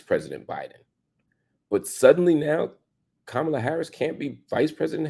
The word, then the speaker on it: Kamala: Second, and more importantly, I think, you said Kamala, not Kamala.